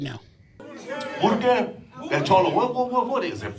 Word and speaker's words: Burque: And I always thought the way you say Albuquerque was Kirky. Right. But apparently there's a certain way. Nope, that's not how you say it, homie.